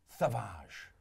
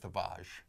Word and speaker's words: Thavage: it's called savage yeah or as i'm uh pronouncing it savage pre-workout i think he said that worse than chris it sounds more it sounds you know it sounds more french when you say tavage more exotic oh [